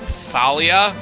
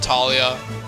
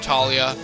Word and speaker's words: Thalia: that the H isn't there's no h in that name so that that was